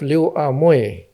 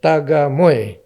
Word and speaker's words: Liu Amoy: Her father is a Chinese from China, by the name of Liu Amoy. Uh-huh. But the Kampung people could not pronounce the name and pronounce it Taga Moy.